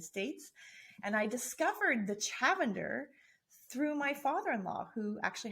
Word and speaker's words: Chavender: do you say it i always say it's chavender like lavender well people listeners the